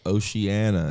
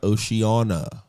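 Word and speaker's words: Oceanna: n n a also it is Oceana not Oceana Ana not Anna good goodness people kill me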